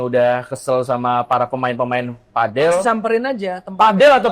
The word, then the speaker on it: padel: Kalau orang ini mah sebutannya padel. Padel. Kalau orang apa? Indonesia. Orang Indonesia padel aslinya. Aslinya pedel. Pedle. Pedle kan. Iya. Itu kayak anoing lah. Iya kan? Jadi emang pengucapannya kayak gitu kalau bahasa Inggris pedal.